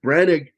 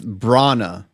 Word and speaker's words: Branagh: And Branig lost his mind, destroyed his marriage with this film.